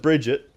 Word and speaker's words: Brigitte: I'm gonna call her Bridget there's pre-k that sounds it's a Swedish name it's not something that I am massively familiar with so I'm gonna go with Bridget but this has been